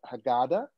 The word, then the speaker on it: Haggadah: say rabbi i love this i got that haggadah yeah did i say it properly yes uh-huh